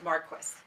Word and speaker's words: Marques: It's Marques. Marques, like question. Like question. Traci with an I and That's right. Marques. Marques. Correct.